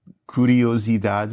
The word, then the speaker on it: curiosidade: Há quem diga que alimenta a alma, que sacia a curiosidade humana. Curiosidade humana. Então, o U e o O de curiosidade têm o mesmo som?